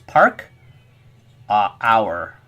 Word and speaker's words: parkour: It's actually a French word. No, parkour is spelled differently. I think it's parkour. It's u, it's o u because it's French. So it's park a hour.